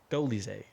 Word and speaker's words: Dolidze: Dolidze.